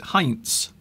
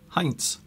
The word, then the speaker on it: Heinz: all, you pronounce it Heinz. Heinz. If you were German. If you were German. Here the Z is pronounced with a T apostrophe S.